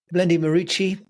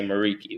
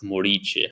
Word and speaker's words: Muriqi: Because in America, most people will say Muriqi, which is fine. You adopt the American way of saying it. But where I come from, I'm Albanian by origin. It's pronounced Muriqi.